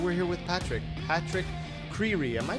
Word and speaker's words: Creery: Patrick Creery. Am I pronouncing that you right? You are. It's like creepy, but with an R.